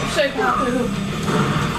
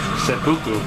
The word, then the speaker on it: seppuku: Seppuku. Seppuku. It's pronounced both ways.